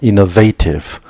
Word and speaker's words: innovative: conservative innovative 이번에는 A하고 소리 납니다. innovative encounter a brick wall.